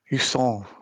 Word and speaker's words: Jusant: I've also been playing, and I'm going to butcher the pronunciation of this because it's a French word. It's a Jusant, but spelt Jusant, which has just come on Game Pass, which is the climbing game.